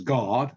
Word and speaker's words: Garde: really appreciate this um my surname is God silent e uh what happened was